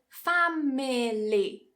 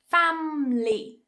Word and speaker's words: family: The same with family, family. Cut that middle syllable, cut that vowel, family, family.